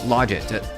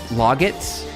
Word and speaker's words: logits: It's logits. But, you know, if anyone says it differently, like logits, like the word log, then I think everyone kind of knows what you're saying.